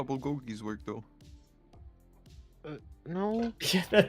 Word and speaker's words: bulgogi: It's actually bulgogi. in Korea, because it's all pronounced with a P. When you see a B, it's pronounced as a P.